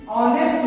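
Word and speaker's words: honest: तो ऑनेस्ट जब बोलते हैं हम लोग जानते हैं कि ऑनेस्ट का स्पेलिंग शुरू तो एच से होता है, लेकिन उसमें एच साइलेंट होता है, इसलिए और वो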